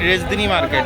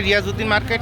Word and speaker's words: রিয়াজউদ্দিন মার্কেট: মার্কেট অথবা রিয়াজউদ্দিন মার্কেট চট্টগ্রামের মানুষরা উচ্চারণ করেন রেজদিনি মার্কেট হ্যা বেসিক্যালি এটা রিয়াজউদ্দিন মার্কেট নিউ মার্কেট area তো